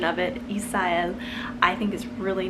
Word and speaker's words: Isael: Isael obviously is very Spanish sounding, pronounced Isael in Spanish.